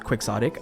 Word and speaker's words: Quixotic: And yes, it is pronounced Quixotic.